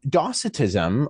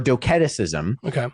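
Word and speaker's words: Docetism: docitism yeah so um docitism or doceticism depending on which way you pronounce it so docane in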